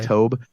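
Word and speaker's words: Toub: this guy it spelled tou B but it's pronounced Taub it's Dave Taub but I guess Dorsey like absolutely loves him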